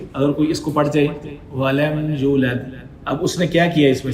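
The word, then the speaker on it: وَلَمْ يُولَدْ: For example lump यलिद वलम यूलद, वलम यूलद, समझिए वलम यूलद। लोग बहुत कॉमन ये गलती करते हैं, लम यलिद वलम यूलद, या वो यू वाव मद्दा पढ़ा है, यूलद, ठीक है।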